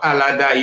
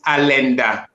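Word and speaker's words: Allada: up their Kingdom there the real pronunciation of alada you know I like words because that is what make our history the true word is alenda which means the crime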